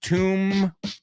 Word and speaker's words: tomb: broken by that fool so tomb fool F it's the same vowel sound again but it doesn't necessarily rhyme Tom rhymes with room right but fool same